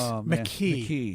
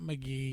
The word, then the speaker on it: McKee: The great McKee with a K. Yes. Not McGee, but McKee. Right.